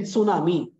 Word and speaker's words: tsunami: t s u n how to pronounce this is silent T silent tsunami then I said are